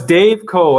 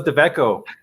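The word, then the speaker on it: DaveCo: Oh, it's Dave Co. That's how you pronounce Yeah. it. Yeah, Oh, I'm so sorry. I thought it was Deveco.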